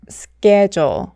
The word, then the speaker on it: schedule: 하지만 여러분 이 단어는 스케줄이 아니라 schedule 이렇게 발음해 주셔야 합니다. S 다음으로 CPKT 등과 같은 자음이 올 경우에는 된소리가 나기 때문에 schedule 이렇게 발음하면 안 되고 schedule 이렇게 된소리를 내주셔야 돼요.